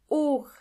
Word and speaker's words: Uhr: Uhr means clock, and the H in this case is silent.